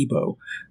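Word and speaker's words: Igbo: famous West African group called the ebo um which is spelled igb o um one of their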